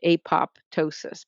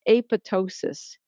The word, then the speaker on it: apoptosis: this, he knew that this is more from the Greek derivation, and the second P is silent. It's apoptosis. If you say apoptosis, it sounds like you don't know that it's not really apoptosis.